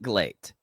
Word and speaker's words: GLEAT: name of this promotion so I always pronounce it glate because it's uh the the the phonetical l&r situation is happening with that and